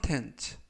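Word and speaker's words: contents: 역 뒤에 있어요라는 뜻이 되겠습니다 이번 표현은 츠 텐츠 텐츠라고 발음하시면 되겠고요 이때 유의하실 점은 알파벳가 O 발음이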